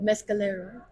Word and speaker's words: Mescalero: do you say this city it's mcolo Mescal Mescalero New Mexico yes okay yeah this is my